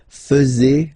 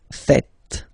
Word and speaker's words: faites: And it's quite funny because many French people tend to make the mistake and tend to say vous faisiez, okay? But then no. It's vous faites. Vous faites.